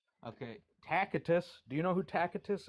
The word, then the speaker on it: Tacitus: So well known and you can't say his name right. What's Oh, how is it really pronounced? Tacitus. That's not true. At least in Latin it is not true.